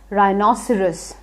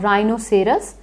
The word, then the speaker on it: rhinoceros: rea yes you know it but you can't pronounce it not a problem it's rhinoceros not rhinoceros but rhinoceros so now if someone uses the word rhino